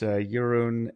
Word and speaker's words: Jeroen: but I guess you corrected me and it's Yurun and Ty.